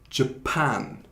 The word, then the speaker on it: Japan: 그래서 이거는 Japan 그 두 번째 syllable를 강제하는 거예요. Japan.